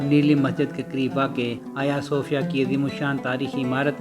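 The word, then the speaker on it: Ayasofya: کئی رنگ دیکھے ہیں۔ غیر ترک اسے عموماً حجیہ صوفیہ بلاتے ہیں، مگر ترکی زبان میں اس کا تلفظ آیا صوفیہ ہے۔ خواتین و حضرات، ہم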